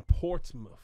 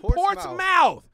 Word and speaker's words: Portsmouth: the way back prior to la you from portsmouth virginia i appreciate you knowing how to say